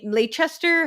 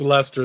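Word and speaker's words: Leicester: I I mean Leester, how do you pronounce it? I'm I'm terrible. I think it's Lester.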